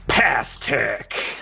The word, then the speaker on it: Pastek: I'm gonna say it's spelled Pastek. Of course it is. All right. So Past Tech.